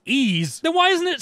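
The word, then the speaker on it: Ys: loved it was called yiz wise yeez i had to look it up it's pronounced ease then why isn't it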